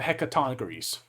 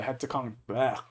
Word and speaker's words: Hecatoncheires: And had then the, and I can't pronounce this right to save my life, the Hecatoncheires. Hecatoncheires? Yep, the Hecatoncheires.